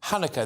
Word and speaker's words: Hanukkah: holiday of Hanukkah or however else you pronounce it chanaka is that right Hanukkah there you go right okay fair enough